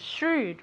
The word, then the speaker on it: shrewd: This is difficult to pronounce. So you have the SH sound. Shrewd.